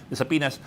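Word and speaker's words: subpoena: will be sending out saas saas sorry silent B saas for these vloggers to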